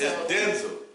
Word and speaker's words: Denzel: Washington Denzel oh man you don't have to pronounce his name denel Washington just say Den Denzel Washington Denzel it's Denzel Den it's Denzel that's his name but at the same time